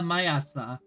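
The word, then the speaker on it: 毎朝: The morning this morning just as every morning is pronounced quesa mayasa.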